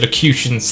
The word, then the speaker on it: locutions: equations confused acute locations i said locutions that's how you pronounce it name these two